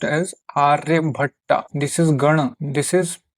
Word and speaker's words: आर्यभट: This is written as आर्य भाटा बट it will be pronounced as Aryabhatta.